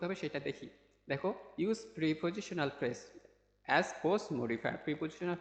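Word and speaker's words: preposition: প্রেপজিশনাল phrase ঠিক আছে প্রেপজিশনাল phrase এখানে বলছে প্রিপজিশনাল অর্থাৎ আমরা জানি অনেকেই জানি যে প্রিপজিশন আমরা অনেকেই প্রিপজিশন বলে থাকি আসলে ওটার ওইটার উচ্চারণ হবে হচ্ছে প্রেপজিশনাল প্রেপজিশন ঠিক আছে প্রিপজিশন না ওটাকে প্রিপজিশন ঠিক আছে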